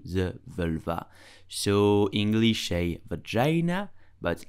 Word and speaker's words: vagin: You will say vagin. Vagin. Vagin. Please do not pronounce it vagin. It's vagin.